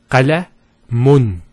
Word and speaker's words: qalamun: Now, for example, if we put one dhamma, it will be qalamu. If we put two dhammas, it will be pronounced as qalamun. Qalamun. So notice the noon sound at the end.